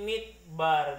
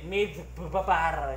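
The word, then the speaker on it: מִדְבָּר: Dia begini, midbar biasa, midbar ya. Midbar. Dia bukan mid double B, mid babar gitu ya. Mid babar. Ya, bukan begitu ya.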